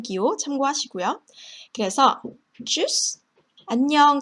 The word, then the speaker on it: Tschüss: 역시 발음 기호 참고하시고요. 그래서 tschüss, 안녕, 잘 가라는 의미 Tschüss, das Deutsch.